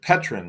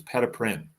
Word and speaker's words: Peden: I pronounced it Petrin last time, but it's Peden.